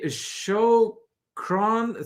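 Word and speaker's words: شكرًا: Then Troy says, spelled phonetically, shukran, thank you, in Arabic. Okay. Well, we're learning something already tonight. That's awesome. Well, thank you. So shukran.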